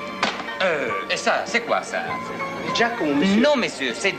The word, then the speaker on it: Giacomo: Giacomo, monsieur. Non, monsieur, c'est Giacomo. Ça se prononce avec un D, mais ça s'écrit avec un G.